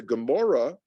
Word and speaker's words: Gemara: in here okay so the gemara in english usually pronounce the gamora is the commentary and